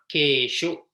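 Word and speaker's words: केषु: Finally, bahuvachana keshu, rhyming with teshu or eteshu.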